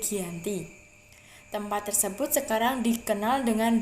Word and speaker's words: Giyanti: yakni di desa Janti dalam pelafalan Belanda ia tersebut sebagai Yanti dan secara tertulis ia terbaca sebagai Giyanti tempat tersebut sekarang dikenal